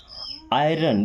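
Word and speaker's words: iron: So next word is आयरन।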